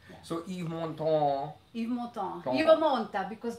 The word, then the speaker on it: Yves Montand: And she used to sing this song, and of course Yves Montand has the most famous version. And how you say it again? Montand. Yves Montand.